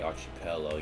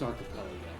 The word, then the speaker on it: archipelago: Actually, by the way, just for educational purposes only, it's Archipelago. Archipel I keep. Thank you. Archipelago. Archipelago. I had a friend call it like archipel archipelago. Thanks ar like Noah's arc. Archipelago. Even though it has an I, it's actually pronounced as an a foreign native nonsense archipelago.